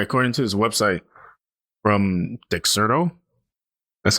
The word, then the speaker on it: Dexerto: All right, according to his website from Dexerto, that's how you say it, Dexerto.